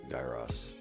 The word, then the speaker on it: gyros: How you pronouncing gyros? Gyros. Guy Ross. What? You're right. It's Guy Ross.